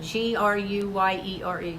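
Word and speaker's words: Gruyère: G-R-U-Y-E-R-E, Gruyere cheese.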